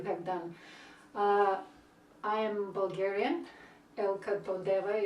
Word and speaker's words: Elka Todeva: Elka Todeva is the way they pronounce it, though it's very often it's anglicized a little bit.